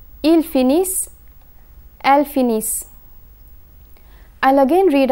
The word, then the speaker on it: finissent: And when the letter combination ENT is placed at the end of a verb, it is silent. The consonant that precedes the ENT ending is pronounced. Ils finissent, elles finissent.